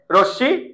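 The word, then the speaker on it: রশ্মি: র সাথে একটা আছে র সাথে একটা কি আছে অ আছে এর পরের বর্ণ রস্বীকার আছে এর পর কার চিহ্ন থাকলে উচ্চারণ হবে তাহলে কি হবে র তাহলে কি হবে রশি এই স এর উপরে একটা চন্দ্রবিন্দু রশি র পারা যাচ্ছে রশ্শি ওকে এবার আসো বল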